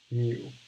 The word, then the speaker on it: mu: and so i'll write out kind of the pronunciations a little bit so that's sigma that's mu and for all the pokemon fans out there